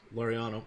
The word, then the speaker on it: Laureano: right now is Ramon Lorraine oh right I'm not pronouncing his name correctly my apologies laureano thank you but he's been promoted